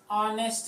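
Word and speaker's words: honest: गलत हो गया क्यों क्योंकि ऑनेस्ट में ए जो होता है वो साइलेंट होता है इसको हम क्या कहते हैं ऑनेस्ट कहते हैं ठीक है ये हमारा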